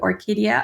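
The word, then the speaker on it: Orquidea: And it was a name that could be pronounced the same, kind of Orkidea, across all three languages.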